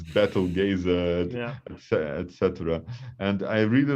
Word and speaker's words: Betelgeuse: I was quite surprised when I heard that English speakers call it Beetlejuice, and I was so used to calling it Betelgeuse in Russian. So I'm happy that Russian pronunciation is closer to what it should be.